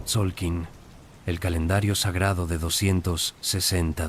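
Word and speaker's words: Tzolk'in: El calendario más fundamental era el Tolkin pronunciado Tsolkin, el calendario sagrado de 260 días.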